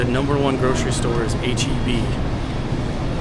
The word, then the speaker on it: HEB: And here in Texas, the number one grocery store is HB. It's not pronounced Heb or It's HB.